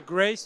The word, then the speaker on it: Grace: Donc, il y a le Senior Score, il y a Grace aussi. On prononce en français d'ailleurs ou en anglais, c'est Grace.